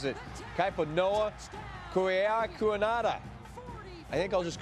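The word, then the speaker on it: Kaipo-Noa Kaheaku-Enhada: Of course, I would love if Staubach was back under center, because Navy's quarterback has 21 letters in his name and pronounces it Kaiponoa Kuiakuanada.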